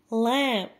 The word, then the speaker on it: lamb: Lamb, without pronouncing the B, lamb, بمعنى خروف.